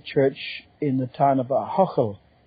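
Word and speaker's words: Ahoghill: in the town of Ahochel. I don't expect everyone to be able to pronounce that name, A-H-O-G-H-I-L-L, Ahochel.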